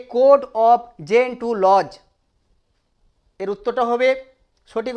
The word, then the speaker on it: Gentoo: আমরা এখানে বুঝে নিই, এ কোড, এখানে যদি উত্তরটা আমি এভাবে দিয়ে করে দিতে পারি, এ কোড অফ জেন্টু লজ, GENTOO, উচ্চারণ কিন্তু জেন্টু লজ।